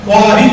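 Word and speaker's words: خواہش: अब ख्वाब बोल रहे हैं, ख्वाहिश बोल रहे हैं, ख्वानी नज़म ख्वानी, ये वाव का साइलेंट होता है, ये मादुला है, वाव मादुला है।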